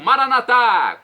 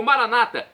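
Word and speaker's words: Maranatha: aramaico dialeto de Jesus eu clamo maranat como dizemos nós católicos ou Maranata como dizem nossos irmãos separados os evangélicos ou protestantes não importa a pronúncia o significado é o mesmo vinde Senhor Jesus é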